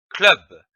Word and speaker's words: club: Attention, ici on prononce club, C-L-U-B, club.